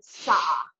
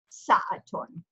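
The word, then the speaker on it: ساعةٌ: Or you can pronounce it sa'a. Sa'a. Sa'a. Okay, so that would just be like in regular dialect, you'd say sa'a, but in modern standard Arabic with proper grammar, it's pronounced sa'atun, sa'atun. Okay, so anytime you have a ta marbuta with nunation or tanween written over or below it, you will pronounce it with that ta sound.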